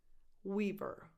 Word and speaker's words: Weaver: Sigourney Weaver. We, tense E after the W, Weaver.